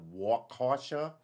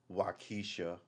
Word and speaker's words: Waukesha: The incident is being investigated independently by the Waukesha.